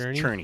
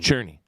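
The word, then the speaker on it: Czerny: for Henry uh Henry Xerni, I think it's pronounced Churnney. Churnney. Yeah. Churnney.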